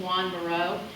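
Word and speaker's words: Joan Miró: me the paintings of Juan Maro they will be very impressed with you because not very many people know the correct way to say his name they think they're talking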